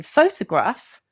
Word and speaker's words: photograph: In photograph, the second and third syllables are reduced. They don't keep strong vowel sounds. They become something like pho-to-graph. That to sound, uh, is a schwa sound.